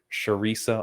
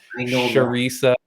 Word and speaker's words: Charisa: we wanted to have sharisa on i can't believe you got the name wrong theresa uh sharisa on amazing we're so